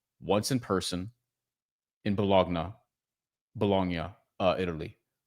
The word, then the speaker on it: Bologna: Once in person in Bologna, Bolognia, uh, Italy. I always have trouble pronouncing that. Uh, because we say Bologna, which is stupid.